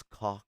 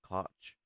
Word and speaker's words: Koch: But one thing I will say, if you're looking for the German pronunciation of Coke, it's cock, not Koch.